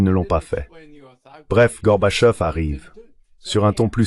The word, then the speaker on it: Gorbachev: "Gorbachev." Je disais Gorbachev. C'est très simple.